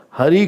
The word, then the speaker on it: Hari: Hari created pot, and from that Harry Potter had come. So they could not pronounce Hari, they made it Harry.